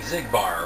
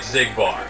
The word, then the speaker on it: Xigbar: he became a nobody he had an X and it's like zigbar what's going on here